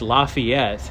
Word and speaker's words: Lafayette: It's Lafayette.